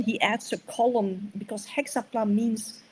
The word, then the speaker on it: Hexapla: Now it comes to Origin and his, how do you pronounce it? Hexapla?